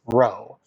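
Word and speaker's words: rho: and that is uh the Greek lowercase R pronounced row um so I don't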